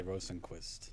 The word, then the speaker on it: Rosenqvist: With with the V with He does like a hard V. It's extra points if you do that. But I I like when I present myself, I just say Rosenquist.